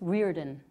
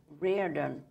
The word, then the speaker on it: Riordan: I believe it's Riordan. Riordan.